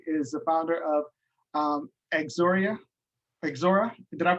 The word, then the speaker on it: XORA: Larry Davis, I should say, is the founder of Exora. Exora, did I pronounce that right, Larry? XORA, like the letter X and then ORA, XORA.